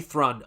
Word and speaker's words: Thrun: Rhymes with run. Okay, Henry Thrun.